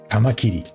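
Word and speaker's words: 蟷螂: Funny, the kanji here used Toro means praying mantis, but it's usually pronounced kamakiri, which is what he said earlier.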